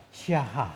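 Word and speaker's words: שָׁחָה: Ang pangunahing salitang hebreo para sa pagsamba ay siya sh a c a h na ang bigkas ay shaha shaha nangangahulugang yumuko bow down o humarap sa lupa na nagpapakita ng saloobin ng pagkamangha at pagsuko.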